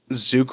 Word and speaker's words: Zook: Zook rhymes with puke.